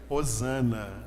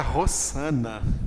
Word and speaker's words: hosana: palavra a ai khan e este h que está aí ele na verdade ele é pronunciado como se fosse um r 1 r então o correto seria hozana seria a palavra rozanna portuguesa uma utilização do verbo